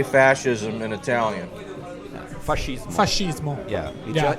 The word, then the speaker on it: fascismo: Fascismo. Fascismo. Yeah. Yeah. It's the same with a no at the end.